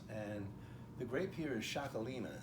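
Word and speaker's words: Txakolina: So the first one I wanted to show you was a Chaume Estance, and the grape here is Xacolina. And Xacolina is spelled oddly. It's T-X-A-K-O-L-I-N-A, Xacolina. The great part about this,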